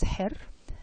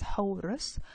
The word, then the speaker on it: Horus: He was pronounced, his name is pronounced as Her and the Greeks pronounced it as Horus.